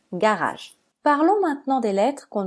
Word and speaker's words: garage: suivi d'un e et se prononce G on prononce garage parlons maintenant des lettres qu'on ne doit pas